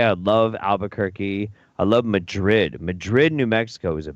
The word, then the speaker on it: Madrid: that's where wild the Hogs is fil it's pronounced Madrid yeah I know but whatever yeah yeah yeah